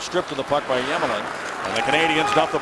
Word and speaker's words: Emelin: Ovechkin, and Alexei Yemelin, his name begins with an E. It's actually pronounced Yemelin.